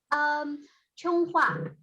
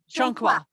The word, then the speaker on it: Chonghua: Just How for one, do I pronounce your name? Chonghua. Chonghua. Thank you. It's Chonghua.